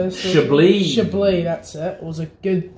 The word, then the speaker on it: Chablis: Chablis, that's it.